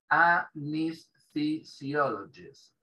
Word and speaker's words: anesthesiologist: Anesthesiologist. Es jodidísimo. Anesthesiologist. Esa TH es una Z suave.